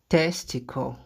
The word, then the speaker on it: testicle: Testicle.